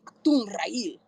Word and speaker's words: Achtungrael: So let's go into your website now and go into Achtungrael. Achtungrael. Am I saying it right? Achtungrael.